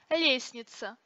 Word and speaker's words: лестница: Например, лестница произносится без звука Т.